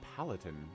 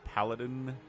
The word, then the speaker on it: Paladin: you palatin what's a palatin is palatin even a word just a basic mispronunciation of Paladin it's not too bad